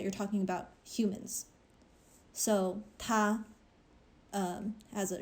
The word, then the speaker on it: 它: So the thing about pronouns in Chinese is when you're saying him or her or it, they're written differently, but they're all pronounced ta.